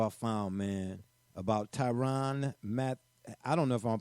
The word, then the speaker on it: Mathieu: found, man, about Tyrann Mathieu. I don't know if I'm pronouncing this right. Gully, how would you pronounce the Honey Badger's last name? Mathieu? Matthew. Oh, it's Matthew. Matthew.